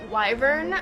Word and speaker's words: wyvern: legs so this body plan of the um wyvern which I recently learned is how you pronounce it um this makes more sense with